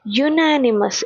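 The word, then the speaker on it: unanimous: ಬರುತ್ತೆ next it ವಾಸ್ ಯುನನಿಮಸ್ ಇದು ಯುನಾನಿಮಸ್ ಅಂತ ಇಲ್ಲಿ ಯು ಕಾನ್ಸನೆಂಟ್ ಸೌಂಡ್ ಅದಕ್ಕೆ ಇಲ್ಲಿ ಎ ಯುನನಿಮಸ್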